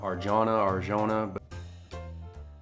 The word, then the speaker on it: Arjona: I think that's how you pronounce her name, Arjona.